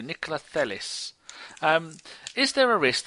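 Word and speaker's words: Nikolaj: Do you pronounce the J? I don't think you do. Nicolais.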